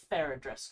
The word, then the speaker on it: Faradris: I want to make sure I pronounce her name correctly. Faradris, correct? Yes.